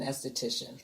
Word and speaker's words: esthetician: then switching over to pronounce it for me as theology s theology so I would be considered an esthetician esthetician there you go it's switching over so